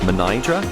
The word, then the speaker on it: Mnajdra: So, while I can tell you that this is pronounced Mnajdra, and this is pronounced Hagar Qim, the rest of the language I will probably completely annihilate, so apologies all round.